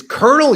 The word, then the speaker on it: colonel: say B up Lieutenant Colin he like it's Colonel you whatever you got it Captain you're mad